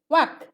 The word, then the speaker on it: walk: ওয়াক, ওয়াক, এল উচ্চারণ হবে না, WALK, ওয়াক।